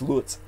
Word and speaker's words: Luz: grand mr lutz martinez or luz l-u-z it's often pronounced lutz martinez he is the taco